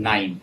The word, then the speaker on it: KNIME: less in Alteryx and Nime. And this Nime is spelled as KNIME.